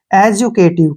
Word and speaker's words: educative: ई का उच्चारण हम नहीं करते हैं, केटिव। एजुकेटिव, क्या पढ़ेंगे इसको?